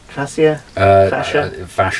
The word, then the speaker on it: fascia: Fascia? Fascia, yeah. Okay, yeah, right, well, choose your favourite pronunciation and tell me about it.